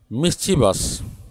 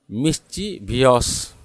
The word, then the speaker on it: mischievous: तीसरा वर्ड है मिस्चीवस। उसको गलत से बोलते हैं मिस्चीवियस, मिस्चीवियस wrong, मिस्चीवियस wrong. The right pronunciation is मिस्चीवस, मिस्चीवस।